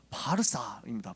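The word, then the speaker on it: Pārsa: 왜 바사라고 했냐 하면은 원어를 보면 페르시아 사람들이 부르는 자기 나라 이름은 바르사입니다. 바르사. 그러니까 바사 페르시아라는 말은 그리스어를 영어식으로 발음을 한 거야.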